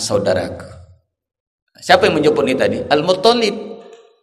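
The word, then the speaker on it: Al-Muttalib: Siapa yang mencuri tadi Al muttalib Jadi bukan al-mutholibin tapi Al Mut Mut olip soalnya itu yang tasydid yang dapat metonic nah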